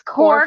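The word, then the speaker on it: Cobh: It's Corv.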